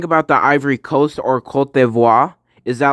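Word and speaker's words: Côte d'Ivoire: And I think it's like supposed to be pronounced cultivo. Yeah, it's going in E tier. But yeah, the interesting thing about the Ivory Coast or Kavois is that like there's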